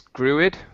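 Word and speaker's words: Grooid: I assume that's pronounced Gruoid. Doesn't that make sense? I think it's Gruid. Yeah, except that it would make sense. I mean, if it's going to rhyme with Android, you know?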